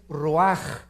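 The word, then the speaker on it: רוח: Neph se pronuncia nepej porque la ch en hebreo es nepeg y la palabra espíritu es roaj. Se escribe ruach.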